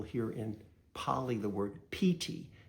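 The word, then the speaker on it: pīti: You'll hear in py the word pt. It's spelled pi ti but it's a long i sound.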